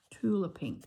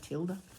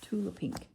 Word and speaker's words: Tula Pink: Tula Pink. That's how you say it. Not Tilda. Tula Pink.